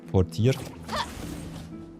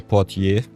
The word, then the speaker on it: Portier: Because this is the White Portier. Or Portier, depending on how much French you know. I think both pronunciations are right, by the way.